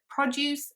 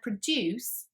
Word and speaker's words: produce: a verb um but depending on how you pronounce it it is either a noun or a verb so for example take